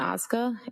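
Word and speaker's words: Ozga: Tell us your name, please, and spell it. It's Oscar.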